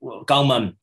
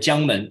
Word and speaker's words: Jiangmen: Pearl River Delta, is Gangmen, we call it Jiangmen, with Gangmen from the Cantonese pronunciation, I think.